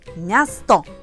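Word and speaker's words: miasto: Это слово означает город, а читаем мы его как мя, място, мя, наш мягкий мя.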